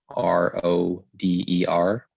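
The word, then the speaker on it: Roder: I've had my name mispronounced several times, and I know my cousin who was born in Peru, his name is spelled R-O-D-E-R, pronounced Rode.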